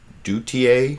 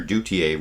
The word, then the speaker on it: Duthiers: His name is Vladimir, I think his last name is pronounced Duthiers, Vladimir Duthiers, reporting on the latest developments in Ferguson, Missouri from CBS's Face the Nation this morning here.